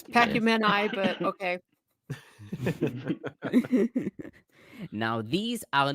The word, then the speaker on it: Pacumeni: It's Pacumeni, but okay.